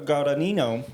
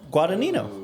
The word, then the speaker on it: Guadagnino: Look, Luca Guadagnino. You're saying they're different. Guadagnino.